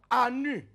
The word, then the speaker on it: Anu: Leur nom, Anu, A-N-U, Anu, ou Anu, c'est votre affaire, prononcez comme vous voulez.